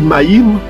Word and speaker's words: Maïm: On écrit Maïm, mais on prononce Maï.